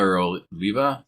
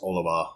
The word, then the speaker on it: Oliva: be good it's an Oliva it's very reputable brand most people can find them in their local cigar shops is it Oliva oriva it's Oliva Oliva yeah I think like boliva but Oliva yeah and we've talked